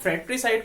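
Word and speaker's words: fratricide: अच्छा, आप फ्रैट्रिसाइड को ऐसे याद रखिएगा, ब्रदर, र आता है, ब्रदर को आप बोलते हैं तो र आता है, तो फैक्ट्री नहीं होता, फ्रैक्ट्री होता है, आर आएगा।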